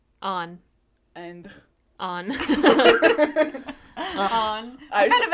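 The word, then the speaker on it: Anh: Her best friend's name is spelled A-N-H. On.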